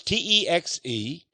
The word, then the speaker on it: Texe: Well, it's Texe. That's right, the midwife back in East Texas put the E on the end of Texe, or Tex.